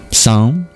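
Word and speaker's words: sam: It sounds like the word sand is in there, isn't it? But it's actually the word s which means complete. S A M song.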